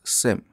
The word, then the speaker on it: SIEM: to get started with seam solution where s stands for security information and event management and it is also commonly pronounced as SIM from Solutions perspective seam